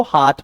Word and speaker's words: heart: Question number 11 सितंबर में सर ने हार्ट को हर्ट पढ़ा है। आपको पता है HEART को हाथ पढ़ते हैं, हर्ट नहीं पढ़ते।